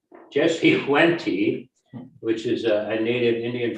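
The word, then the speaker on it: Jesse Wente: Jess Went, is that how you pronounce it? Jesse Wenty. Jesse Wenty, which is a native Indian from Ontario, and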